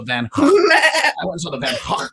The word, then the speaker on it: Van Gogh: I'm like, I went and saw the Van Gogh Museum in Amsterdam, which is how you say Van Gogh, And I was like, well, that's cool or whatever.